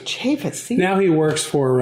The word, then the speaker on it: Chaffetz: Chaffetz.